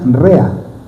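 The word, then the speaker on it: רֵעַ: Y en hebreo se pronuncia rea, que quiere decir amigo, compañero.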